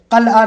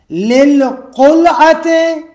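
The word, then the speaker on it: للقلعة: ہیں۔ تقوز الناس للقلعۃ، تلفظ صحیح کریں، قلعہ نہیں ہے، للقلعۃ ورجعوا عن النجعۃ، تو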